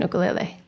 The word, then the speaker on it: ukulele: I noticed that you pronounced the tiny instrument differently than most of us mainlanders. Say that again. Ukulele. And why is it that you pronounced that correctly? Where'd you learn that? Because I live on Maui.